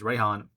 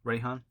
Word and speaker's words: Raihan: japanese name is kibana i'm going to call him reihan or pronounce it as reihan it might be a different pronunciation but i prefer reihan and then yeah geraldon